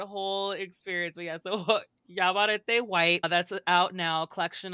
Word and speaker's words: Yaguareté: Yaguareté. See, I know how that is pronounced, that GU.